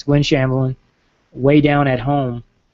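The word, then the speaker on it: Weigh Down: It's Gwen Shamblin, Way Down at Home. And it's the way, it's spelled like weight, like your weight.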